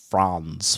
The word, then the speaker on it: Franz: You can say it either way, but I'm from. We have Appalachian roots, so it's Franz.